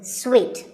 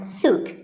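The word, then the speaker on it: suite: a related word is sweet this means a set of connected rooms in a hotel and this is wrongly pronounced by many people as soot but it's sweet like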